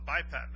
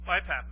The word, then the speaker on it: BiPAP: Some people are on the BiPAT mask, excuse me, BiPAP mask. BiPAP is spelled B I P A P.